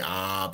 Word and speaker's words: ib: Now, the IB, you will hear it pronounced as the OB sometimes. So don't get caught into caught up in the semantics of that.